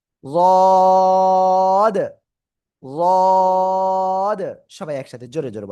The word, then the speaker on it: ض: জিহ্বার গোড়া, গোড়ার কিনারা উপরে মাড়ির দাঁতের সাথে মুখ বন্ধ রাখেন, দেখেন অটোমেটিক লেগে আছে। ওই অবস্থায় আপনার কি করতে হবে? উচ্চারণ করতে হবে রদ।